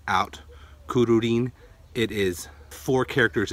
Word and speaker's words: Kururin: C ruin kin so there's two RS in there it's not kurin it's